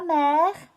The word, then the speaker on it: mer: on dear the sea say la mer not to be confused with la merc which sounds exactly the same actually for the mother okay we'll saw it